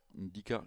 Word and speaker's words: Ndicka: Dica comme Mbappé sûrement, j'imagine. On prononce pas les premières lettres.